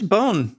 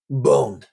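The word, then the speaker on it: Beaune: Where's bone?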